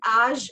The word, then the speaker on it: âge: Quel âge avez-vous? आज as in आज, जैसे हम बोलते हैं ना आज, तो आज. Quel âge avez-vous?